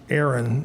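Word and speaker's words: Arjen: Aaron. The J is silent.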